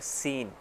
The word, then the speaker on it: scene: इसी तरह हम देख लेते हैं, एक वर्ड है रॉन्ग। ठीक है, उसमें डब्ल्यू जो सा शुरू में आता है वो साइलेंट है, उसको हम पढ़ते नहीं हैं।